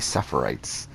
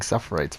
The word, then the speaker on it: suffrage: sarah fights so i kept on saying suffer rights and i didn't realize that until today when i got a comment on the last was part two video where he says you should start pronouncing suffrage better and i was like oh i have been uh saying it wrong or sarah fight [